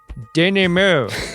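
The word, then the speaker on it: denouement: been driving me crazy WTF is a Danny move and that's spelled phonetically in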